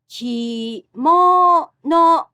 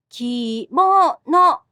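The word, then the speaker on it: 着物: The word kimono also has the same pitch pattern of low to high. Kimono. Kimono means wear thing. Kimono has the same pitch pattern as sushi.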